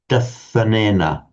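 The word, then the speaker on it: dassanena: Okay, not too bad, but remember not to shorten the long a. So, for example, dasanena.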